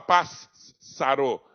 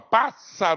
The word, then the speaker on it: passar: representar apenas um som eu não vou falar paz sarou eu vou falar passar o mesmo que eu